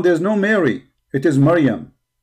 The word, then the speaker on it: Miriam: It is Miriam. Miriam, exactly as the name of the sister of Moses and the sister of Aaron.